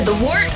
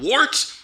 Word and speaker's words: Wort: It's pronounced the Wort. What is it? The wort? Yeah, okay, I'll do that again. This is The Wort on Govs Radio. It is the Wort. Not wart, not fort, not short.